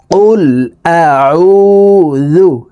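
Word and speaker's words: قل أعوذ: জু আউজু কুল আউজু আমরা অনেকেই কুল আউজু পড়ে থাকি এই আইনকে হামজার উচ্চারণ করে থাকি প্রিয় দর্শক এই আইনের উচ্চারণ হলকের মধ্যখান থেকে চাপ দিয়ে পড়তে হবে কারণ আইনের মাখরাজ হালকের মধ্যখান থেকে হবে দেখুন এভাবে পড়বো কুল আউজু কুল আউজু বা জের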